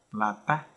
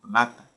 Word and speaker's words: plata: No pronunciamos la palabra plata, sino plata. Así que la segunda A sería átona y la primera A sería una vocal tónica.